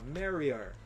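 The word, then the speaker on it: marry her: ele disse marri anyway repare que ele vai fazer assim a música inteira tá em nenhum momento da música ele vai dizer her ele vai sempre dizer vai pronunciar assim ó marri marri é assim que ele vai pronunciar e no dia a dia quando a gente tá falando a gente fala assim também é mais fácil você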